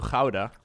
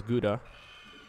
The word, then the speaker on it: Gouda: I do live pretty close to Gouda, which a lot of you would pronounce as Gouda.